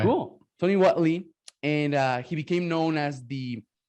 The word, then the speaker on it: Tony Whatley: And today I have Tony Whatley. Is that cool, man? Is that how your name is pronounced? That's right. That's right. Cool. Tony Whatley.